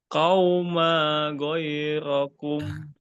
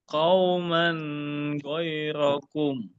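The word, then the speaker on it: قَوْمًا غَيْرَكُمْ: Qauma ghairakum. Maaf Pak, ada tanwinnya di atas huruf mim. Qauman ghairakum. Nah, karena ini tanwin bertemu ghoin, maka dibaca idhar. Jadi nggak perlu ditahan ya Pak ya.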